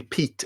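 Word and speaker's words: Piet: smart depite which really showed me is actually Pete and not yet as I insisted pronouncing who of course is you know the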